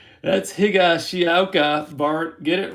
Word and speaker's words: Higashioka: And there is Higashioka. That's Higashioka, Bart. Get it right and try to pronounce the names properly.